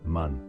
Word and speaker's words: man: Ils ne savent pas ce que c'est, et ils disent: « Qu'est-ce que c'est ?» Ce qui se prononce hébreu, man.